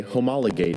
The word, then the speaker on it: homologate: The fact that the Joneses did not appeal the court's decision effectively means they homologate it. Homologate. Homologate. Is there any alternate pronunciations?